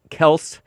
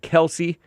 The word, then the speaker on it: Kelce: get married to Travis Kelce. Some people pronounce it Kelsey because these Kelces are too weak to correct anybody. It's kind of like Hank answering to Hank or James Hank answering to Jake Hank.